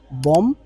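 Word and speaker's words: bomb: হচ্ছে গণহত্যা genocide genocide বম বম বোম মনে রাখতে হবে এখানে বিটা কিন্তু এটাকে আমরা উচ্চারণ করি না শুধুমাত্র বম okay what about বোম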